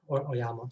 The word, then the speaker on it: Oyama: So now my name is Oyama, or Oyama is actually the correct way to say it, although I anglicized it early on in my life.